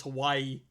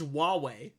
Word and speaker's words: Huawei: for the longest time I thought it was Hawaii oh oh Huawei yeah yeah it's it's pronounced with Huawei it's the one that starts